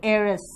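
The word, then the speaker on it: heiress: HEIR ये वारिस होते हैं, तो वारिस अगर स्त्री हो तो एरिस, pronunciation air एंड एरिस।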